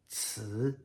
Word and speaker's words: ci: The first one is like a TS sound, ci, and then, or maybe even TSZ, Z, Z.